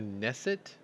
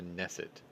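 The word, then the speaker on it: Knesset: spoke sunday to israel's is it the nesset the k is silent right you're supposed to help me here i think it's called the neset members urging the government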